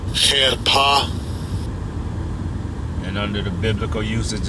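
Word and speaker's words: חרפה: I'll give you a pronunciation of it. Strong's H2781. Cherpa. Cherpa.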